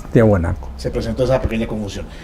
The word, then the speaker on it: Tiahuanaco: había una confusión porque la primera traducción al pronunciarlo lo decían tihuanaco Recuerda usted locutores presentaban Aquí está tihuanaco resulta que era tiahuanaco o es tiahuanaco claro es tiahuanaco se presentó esa pequeña